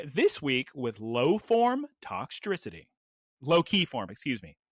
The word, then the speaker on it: Toxtricity: You know how to say electricity, right? Yes, electricity. Okay, so instead of saying electricity, say toxtricity. Toxtricity.